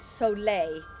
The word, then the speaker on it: soleil: It is soleil. The L is silent.